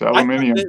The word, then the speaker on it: aluminium: of Al aluminium alumini you know what I found out that's actually how they pronounce it in Australia yeah it's aluminium this one guy I